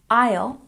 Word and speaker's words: aisle: very important number one Isle remember the S is silent this is a corridor